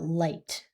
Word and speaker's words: light: And so, this this um think about light. We have that we hear l i, so that long i sound, and the gh is silent, and then we hear t.